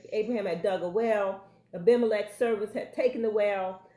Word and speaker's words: Abimelech: All and right, I can pronounce this correctly. It's Abimelech, not Abimelech. It's Abimelech. Uh-huh. Abimelech.